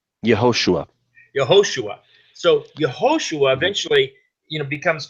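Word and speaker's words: יהושע: How do you say it in Hebrew? Yehoshua.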